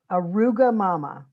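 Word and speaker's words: arugamama: to say it and then i'm going to spell it it's arugula mama aruga mama let's say that together a ruga mama it's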